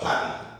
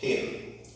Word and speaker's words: patent: Patent, or some persons pronounce it as what? Patent.